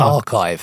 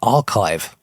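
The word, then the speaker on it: arXiv: do you know archive it's it's it's pronounced archive archive. Okay, believe it or not, the X represents the Greek letter chi, so it is actually archive.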